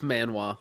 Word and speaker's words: manhwa: It was a Korean manhwa, not manga, manhwa, I think. It's manhwa.